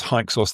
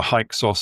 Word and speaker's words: Hyksos: So we get haika and the um the Greeks um they pronounced that as hikos.